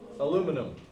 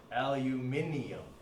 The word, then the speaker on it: aluminum: Number 5, Al stands for aluminum, and that is how we pronounce it here, even though it's not apparently how the International Union of Physics and Applied Chemistry wishes it to be pronounced, because if you look on any new periodic table, not this one because I like this one, it actually says aluminium, not aluminum.